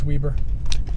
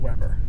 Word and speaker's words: Weber: I just want to make sure you know it's Weber State, not Weber. Okay, I'll say Weber. Yeah, it's phonetically spelled that way.